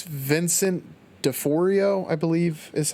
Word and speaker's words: Vincent D'Onofrio: can never pronounce it pronounce his name it's vincent de fourio i believe is how you know vincent and afrio dinofrio that is yes have you seen that film no but uh vincent d'onofrio was a private pile in full metal jacket